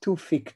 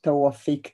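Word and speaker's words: Tawfik: Sometimes when Israelis speak, they will pronounce his first name as Tufik Tubi, but the right way to pronounce his name is Tawafik Tubi.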